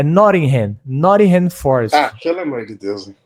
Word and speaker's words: Nottingham Forest: Não é Nottingham Forest, é Nottingham Forest.